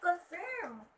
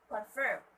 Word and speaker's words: confirm: I usually hear this from the LGBTQs who say, I confirm. Sis, they would say that, which is wrong. It should be confirm. The stress should be at the second syllable or the last syllable.